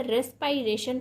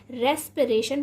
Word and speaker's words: respiration: रेस्पिरेशन ही पढ़ रहे थे या आप इसे रेस्पायरेशन पढ़ रहे थे? तो आज के बाद आप इसे क्या पढ़ेंगे, यानी कि अभी से आप इसे क्या पढ़ेंगे? रेस्पिरेशन पढ़ेंगे, क्योंकि इसका जो सही प्रोनाउंसिएशन है वह क्या है? रेस्पिरेशन है।